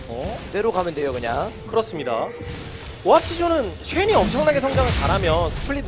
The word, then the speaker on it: 오합지존: 운영을 중심으로 득점하는 게 오합지존 입장에서는 이상적입니다. 발음 조심해야 될 것 같아요. 오합지졸이 되어서는 그렇죠. 존재는 존? 네. 존입니다. 존. 존입니다. 네. 발음이 항상 중요해요.